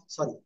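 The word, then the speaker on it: ث: ওকে, তাহলে আমরা যেটা শিখতেছিলাম, সবাই আমাদেরকে খেয়াল করেন। জিব্বার আগা, এই দুই দাঁতের আগে লাগাবো, লাগিয়ে হালকা বাতাস বের করো, বের করে জাস্ট একটা আলিফ টানিয়ে আমরা উচ্চারণ করবো।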